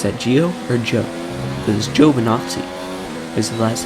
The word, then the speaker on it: Giovinazzi: I know his last name is pronounced Giovinazzi.